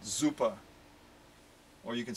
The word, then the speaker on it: super: super super duper or as the germans say super with a z it sounds like a it's not spelled with a z but it it has that z sound to it zuppa or you could say